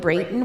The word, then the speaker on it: Breighton: the very first time his name rhymes with the number eight you hear about a